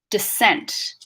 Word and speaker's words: descent: You'll notice in the first syllable there's a quick schwa sound. D, descent, d, descent.